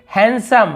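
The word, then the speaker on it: handsome: यहाँ पे देखिए हैंडसम, हम हमेशा हैंडसम, हैंडसम ऐसे बोलते थे, लेकिन डी को नहीं पढ़ना है, केवल हैंडसम, हैंडसम यानी होता है आकर्षक होना, जो अपनी ओर खींचे उसे हैंडसम कहते हैं।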